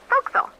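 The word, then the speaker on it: forecastle: Try pronouncing it like an English sailor with no formal education. Faux castle. Folks.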